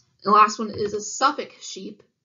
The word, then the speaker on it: Suffolk: The last one is a Suffolk sheep. It's pronounced just like that. The L is silent, Suffolk.